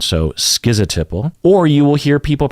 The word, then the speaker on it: schizotypal: what they say uh the top answer is this one schizotypal schizo typo schizo typo so that's different right than what Google says Google says typo and